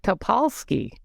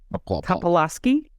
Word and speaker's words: Topolsky: And we hope that's Patrick Topolsky. That's how you pronounce it. Topolsky? Topolsky.